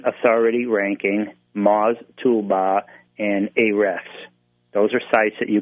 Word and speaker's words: Ahrefs: And then here's one I have a hard time pronouncing, but it's Ahrefs, A-H-R-E-F-S.